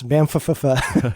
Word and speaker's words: Banff: Yes, Banff. And it was January 2020, minus 26 degrees below zero, and it was definitely Banff. For those that don't know that, the reason I say is because it's spelled with 2 F's at the end.